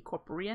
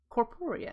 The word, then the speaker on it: corporeal: to progress towards the corporate network corporeal I keep saying it wrong corporeal network and to do